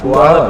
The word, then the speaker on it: Puyallup: All right, so this next one is from Megan in, I'm going to mispronounce this, Puyallup, Washington. Puyallup? Yeah, Puyallup, Washington.